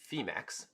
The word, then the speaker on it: Phemex: and going surfing um we are partners with femix so it's actually pronounced femex okay and they actually have a competition that